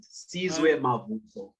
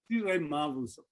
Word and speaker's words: Sizwe Mavuso: Okay, how do I pronounce Sizwe Mavuso? You're on mute, but it looked like it worked. That's very impressive. That's more or less, yeah, how you pronounce it. Sizwe Mavuso.